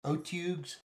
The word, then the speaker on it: otyugh: How do you pronounce Otyughs? Otugs?